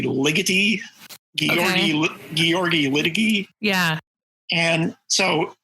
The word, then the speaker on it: Ligeti: For years, I pronounced his name Ligeti, but I think it's actually Ligeti.